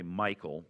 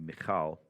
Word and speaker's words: Michal: Most Americans say Michael, but proper Hebrew would be Michal.